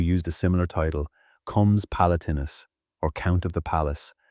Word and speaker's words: palatinus: The word traces back to the Latin palatinus, pronounced palatinus, meaning of the palace.